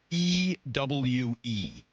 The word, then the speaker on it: ewe: The spelling of ewe in this case is E-W-E. Ewe. E-W-E. Spells ewe.